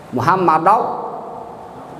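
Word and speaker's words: محمدا: Jadi kalau ada ro, sebelumnya ro harkatnya fathah, maka dibacanya harus tebal.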